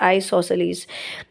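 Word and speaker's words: isosceles: इसका नाम है आइसोसेलस प्रोनाउंस करें properly the word is आइसोसेलस आइसोसेलस में कता है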